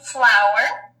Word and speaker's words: flour: So you also can pour in flour, which somebody mentioned earlier, is the same way you pronounce flower, like a really pretty, like these are flowers.